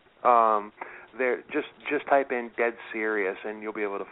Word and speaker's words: Dead Serios: them on Facebook, they're just type in Dead Serious and you'll be able to find them. Well, Serious without the U. Just type yeah, in the word Serious. S-E-R-I-O-S. S-E-R-I-O-S. Right, it's Serious.